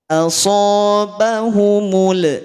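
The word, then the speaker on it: أَصَابَهُمُ: Asobahumul qurh. Asobahumul. Tidak ada mulanya.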